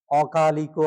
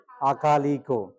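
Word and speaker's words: akāliko: কি বলবে সান্দির টিকো অকালিকো আছে অ থেকে আ তাইলে কি হবে আকালিকো আকা এবার দেখো এহি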